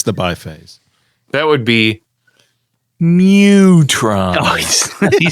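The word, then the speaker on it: Mu-Tron: That would be Mutron.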